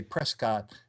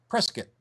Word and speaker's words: Prescott: can always tell the outsiders like you and me who say Prescott and the people who live there say press kit it almost rhymes with biscuit this has no relevance